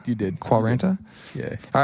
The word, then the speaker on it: quarenta: Quarenta? You did. Quarenta?